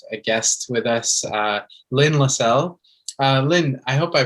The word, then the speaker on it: Lynn Lessell: today to have a guest with us uh lynne lassell uh lin i hope i pronounced your name right actually i should have